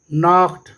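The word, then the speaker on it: knocked: डू you know the नॉक्ड एट the door, के जो है ये साइलेंट लेटर है।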